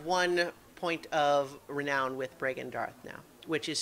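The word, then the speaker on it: Bregan D'aerthe: on the crate again what was the name Brean Darth which um I think as a Dr uh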